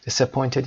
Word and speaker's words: disappointed: Disappointed یعنی مایوس شدن. Disappointed استرس روی point هست.